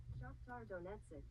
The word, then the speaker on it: Shakhtar Donetsk: Shakhtar Donetsk.